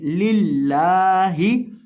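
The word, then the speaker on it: لله: करेंगे, बारीक करके पढ़ेंगे लिल्लाही, वक़फ़न लिल्लाह, लिल्लाह। अक्सर लोग वक़फ़ करते वक़्त लिल्लाह हा को वैसे ही छोड़ देते हैं, तो हा को आपने प्रोनाउंस करना है, हा को साइलेंट नहीं करना।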